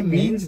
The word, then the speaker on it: Mignonne: n n e that that g is silent but it confuses a lot of people I remember once I they call you m mag even I said no it's mean actually if you remember